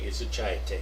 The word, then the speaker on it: изучаете: Okay, изучаете is the correct pronunciation for that verb.